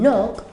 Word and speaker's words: knock: Luego la K, como en knock, que significa llamar a la puerta o golpear.